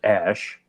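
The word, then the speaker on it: X Æ A-12: A, and then it's AE pronounced Ash.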